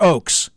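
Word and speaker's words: Ochs: of AG solsberg Adolf is it pronounced ox or Oaks Ox yeah Ox okay Adolf Ox Arthur Hayes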